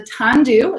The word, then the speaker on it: Tandu: So this wine is the Tandu, is how that's pronounced.